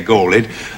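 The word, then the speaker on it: galled: does the gauled rock you have to say gaul it if the line is going to scan properly it's not just a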